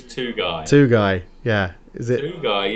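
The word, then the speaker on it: Tugay: That has to be Tudguy or Tugai? I can't remember how you say his name. It's not Marcus Tudguy, it is Tugai.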